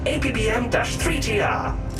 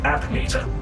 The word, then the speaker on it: ABDM-3TR: how lucky for me I am abdm-3tr but humans without fail pronounce it app meter app meter okay I'm